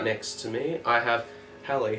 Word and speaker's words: Halle: But did I pronounce that right? Halle?